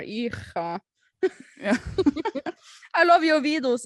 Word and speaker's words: Ircha: Someone says and mispronounce Irmsha, Irusha, Irka. Yeah. Ircha is my favorite one. I know, right? That's a pronunciation. These are spellings. Like, forget about the R. Ircha.